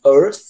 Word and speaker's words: Earth: Você pode falar, que nem americano fala, que é bem difícil, eles falam Earth, tá bom? Com R puxado e com a língua entre os dentes, né?